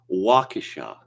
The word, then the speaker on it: Waukesha: incident and i'll talk about that apparently it's waukesha okay now i've been instructed i have a